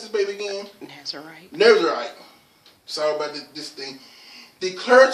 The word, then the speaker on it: Nazarite: How you pronounce this baby again? Nazarite.